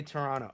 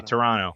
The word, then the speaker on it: Toronto: Oh say Toronto. Okay you don't pronounce the T. You don't pronounce the T. Don't don't pronounce the second T. Toronto.